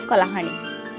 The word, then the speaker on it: Kalahandi: locally pronounced Kalahandi, is a district of Odisha.